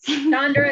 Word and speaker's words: Chandra: Chandra is correct. Chandra. Yep. Chandra is how you say it.